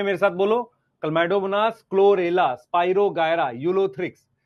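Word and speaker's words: Chlamydomonas: Green algae में मेरे साथ बोलो, क्लमाइडोमोनास, क्लोरेला, स्पाइरोगायरा, यूलोथ्रिक्स। मैं मतलब ये आपको श्योर बोल सकता हूं, बहुत सारे बच्चे इसको ठीक से प्रोनाउंस नहीं कर सकते। क्लमाइडोमोनास है, क्लमाइडोमोनास, क्लोरेला, स्पाइरोगायरा, यूलोथ्रिक्स, कारा, चारानी कारा, क्लैडोफोरा, वॉलवॉक्स, यूडोरीना।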